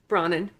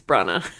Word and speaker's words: Branagh: Kenneth Brana Brana yeah what am I saying bronen you're saying brought in there's no n at the end of his name it's Brenna pray for this guy